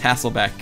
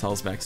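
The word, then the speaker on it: Hülsbeck: Yo, Modern Vintage Gamer, yeah, there's a running joke about how I mispronounce Chris Hulsbeck's name. I call him Hasselback, I call him Husselhoff, I've called him everything. I just always mess up his name.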